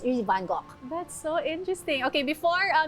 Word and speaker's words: Van Gogh: You said Van Gogh with a hard GH. Yes, because he's Dutch.